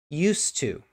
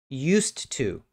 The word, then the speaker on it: used to: how I say it used to used to used to the D is pretty much not there there's no sound of the D used to maybe the